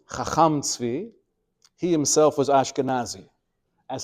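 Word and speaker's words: חכם צבי: Although you pronounce his name as a Sfardi, Chacham Tzvi, he himself was Ashkenazi, as his last name indicates, which is not always the case, by the way.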